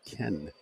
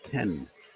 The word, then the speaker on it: Kean: terminology right and it's Ken spelled ke a n like King but pronounced Ken as the a is silent named after Iana udora